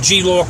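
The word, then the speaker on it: Geelook: they're called g look um they're pronounced um g-lock it's spelled g-double e-l-o-o-k they're about 13 97 appear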